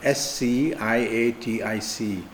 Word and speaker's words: sciatic: there's a sciatic nerve s c i a t i c is pronounced as sciatic and the sciatic nerve